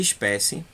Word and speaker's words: espécie: Mônaco e paralelepípedo é proparoxítona e espécie paroxítona.